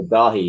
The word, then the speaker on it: Daithí: Yeah, so Daithí, yeah, it's a soft T, it's Gaelic. It's not David exactly, but it's kind of like the closest match.